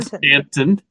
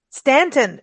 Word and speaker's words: Staunton: In Stanton. Stanton, but it's spelled S-T-A-U. It's spelled Staunton, but it's pronounced Stanton.